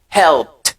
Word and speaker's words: helped: Considérant la première lettre de cette phrase, donc ED est prononcé comme T. Par exemple, on a help. Qu'est-ce qu'on dit? Helped. Le présent, c'est help. Le participe passé, c'est helped.